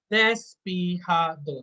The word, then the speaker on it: despejado: Now, in Spanish, J is pronounced as ha, so it's not ja, it's ha. So, despejado, that's the word I want to memorize.